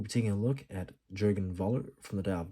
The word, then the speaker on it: Jürgen: as jurgena you know as a proper German uh pronunciation and and I believe